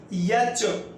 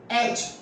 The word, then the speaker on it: H: इसको पढ़ते हैं यच, यच, य और च। क्या ये सही है? आप भी जानते होंगे, ऑफ कोर्स नॉट, नहीं सही है। इसका सही प्रोनाउंसिएशन क्या होगा? H। क्या होगा? H, right, like that, IJK।